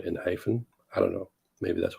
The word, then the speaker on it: ENHYPEN: I pronounce it Enhypen because Enhypen is the English word, but Big